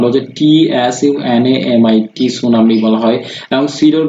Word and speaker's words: tsunami: এবং এটার উচ্চারণ হচ্ছে TSUNAMI, সুনামি বলা হয়।